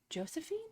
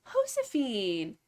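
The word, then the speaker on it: Josefina: It's not pronounced Josephine. I am I'll learn. I am This is big Hosephine.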